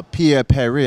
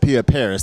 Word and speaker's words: Pierre Paris: she said um uh Pierre Peri I said Pierre Paris so you already know I'm already messing up okay no worries it's because I pronounce it the French way but Yahweh is good